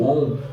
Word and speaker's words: Om: Coloca a língua entre os dentes, ou seja, no alto do palato, e entoe a letra divina, ou seja, entoe o Om.